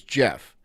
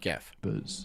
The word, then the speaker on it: Gef: going pronounce it it's Jeff his name is Jeff it's not geff and those who dared